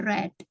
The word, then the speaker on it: read: Nah, kecuali untuk membaca ya, read. Bentuk pertamanya bacanya read, ya kan? Bentuk keduanya bacanya read, ya. Itu yang membedakan.